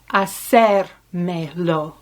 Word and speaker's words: hacérmelo: Puedes hacérmelo, with an accent on the E.